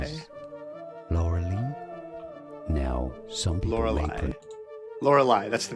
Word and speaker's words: Lorelei: Here we have Lorelei. Probably should have figured out how to pronounce the name of the game before I started. How to pronounce Lorelei. Emphasis is on the last syllable, apparently.